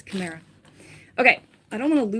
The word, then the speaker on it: chimera: Chim- chimera? It's chimera.